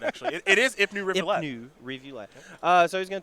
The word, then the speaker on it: Ipnu Rivulet: I'm just going to say I pronounced that right. You did get that right, actually. It is Ipnu Rivulette.